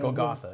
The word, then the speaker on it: Golgotha: But, you know, then you started another game, Golgotha, is that how you pronounce Golgotha, it? yeah. Golgotha, yeah.